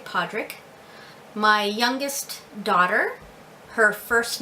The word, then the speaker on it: Pádraig: My son's middle name is Pádraig, and that can also be pronounced Pádraig, but we do say Pádraig.